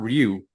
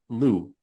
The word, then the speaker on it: Ryu: It's not Ryu, it's Lu. Oh, Hyunjin, it's pronounced Lu, as in Lu.